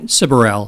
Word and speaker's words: Siberell: Curel. Cyberel.